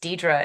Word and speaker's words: Deidre: have a Facebook page my first name is Dedra and it's spelled weird it's Dei D re so the Facebook page